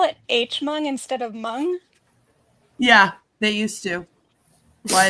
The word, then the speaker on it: Hmong: have like a massive mung population here and you know, I went to school with pe you know Mung people and so hearing it pronounced Hmung like just really threw me off there.